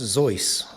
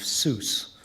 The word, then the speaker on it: Seuss: His German family name was actually pronounced Zeus, rhymes with voice, but Ted accepted the more phonetic pronunciation of Seuss, which rhymes with juice, for his author's name.